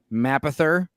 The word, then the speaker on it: Mapother: his name is pronounced Mapothe, like Mapothe, like what was Meg left. I think Meg said that. I think Meg. Yeah, said, she was saying a French pronunciation.